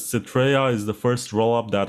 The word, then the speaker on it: Citrea: Can you tell me how you pronounce this? It's Citrea.